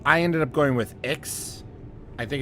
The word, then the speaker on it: Ix: So I ended up going with Ix. I think it's pronounced IX at the bottom, just because it